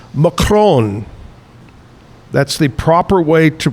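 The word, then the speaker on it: macaron: Uh Kevin Kevin uh he said that actually it's pronounced macron. That's the proper way to pronounce macaroon.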